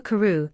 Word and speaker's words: Crewe: Madame Pascal pronounced it as if it were ku instead of crew.